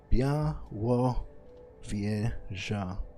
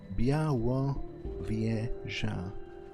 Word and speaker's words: Białowieża: it in Polish, but let me try Białowieża. Okay, I guess the pronunciation guide is kind of accurate. Białowieża. Yeah, right. More or less. It's pretty close.